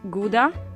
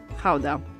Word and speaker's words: Gouda: this one behind me depending on whether you're a native you will pronounce it either GDA or Howa so since we're talking about authentic Dutch cheese we're going to call it Howa the cheese takes its